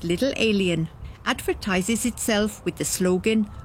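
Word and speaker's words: Little A'Le'Inn: The Little L Inn, pronounced Little Alien, advertises itself with the slogan, "Earthlings, welcome."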